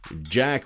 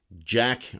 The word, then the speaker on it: Jacques: the answer is a jack webster ii but it's not just jack it's spelt like jacques jacques left styles all